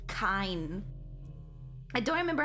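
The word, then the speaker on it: Kain: I say Kane by accident, but I think it's supposed to be Kine.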